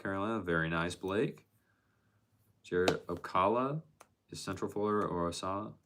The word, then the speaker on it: Ocala: It's pronounced Ocala.